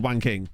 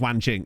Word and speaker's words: Wanking: Oh, if you missed this, we did find a player called Wanking. I know it's pronounced Wan Ching.